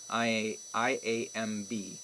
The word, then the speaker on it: iamb: For example, you're probably familiar with the iamb, I-A-M-B, iamb, a 2-beat foot with the stress on the second beat.